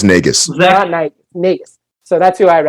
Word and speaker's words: Nagus: be the the Nate I keep saying it wrong it's negus right it is nagus so that's who I